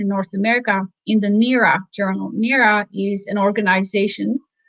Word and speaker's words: NEARA: So in one of the NERA journals, NERA is spelled NEARA. It's an acronym.